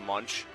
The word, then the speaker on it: Munsch: Last name Munsch, but pronounced Munch.